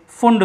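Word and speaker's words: Pfund: यहाँ पर next series आती है फुंड सीरीज। P यहाँ पर साइलेंट है, यहाँ पर हम पढ़ सकते हैं P फुंड, लेकिन पढ़ेंगे क्या फुंड सीरीज।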